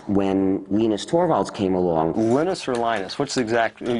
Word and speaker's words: Linus: Venus Torvalds came along Linus or Linus what's the exactly your preferred pronunciation um when I speak Swedish it's ainus when I speak Finnish it's Linus when I speak English it's Linus and I really don't